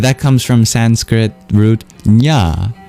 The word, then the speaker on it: jnana: But that comes from Sanskrit root nya j n a nya nana meaning knowledge knowing wisdom from a tradition of